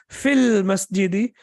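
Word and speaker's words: في المسجد: And when you say fi, and then after that al-masjidi, and when you pronounce it as a complete construction, you will say fil masjidi, in the masjid, then it will not be pronounced in the masjid.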